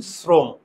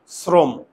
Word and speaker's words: শ্রম: আমি আবার বলি, শ্রম, শ্রম, মুখের চোয়াল আমার খুলে না, যদি মুখের চোয়াল না খুলে বুঝে থাকে তাহলে আমার ওকার দিতে হবে।